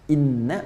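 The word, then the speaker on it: إِنَّا: ya inna ilaihi roji'un Inna pakai tauhid bacanya pendek bukan ini tapi Inna Inna Ila robbika Roja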